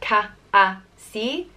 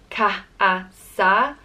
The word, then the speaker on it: Cathasaigh: And it's pronounced Cathasaigh, Cathasaigh, or Cathasaigh. Again, depending on where in Ireland you're from.